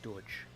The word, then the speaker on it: Deutsch: Yeah, I was about to say German's like Deutsch. Which really, to an English speaker, sounds like Dutch all over again.